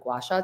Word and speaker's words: gua sha: another one which many people might not be aware of, and you can correct me if I'm pronouncing it wrong. It's gua sha or gua sha.